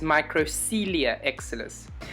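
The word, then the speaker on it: Microcoelia exilis: excited to show you and it is a micro corelia and excellus the correct pronunciation is microcelia excellus um it is an interesting orchid and i'll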